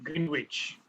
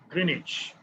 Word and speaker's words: Greenwich: time and continue w-i-c-h greenwich okay but the w is silent there so we call it greenwich cleared all of you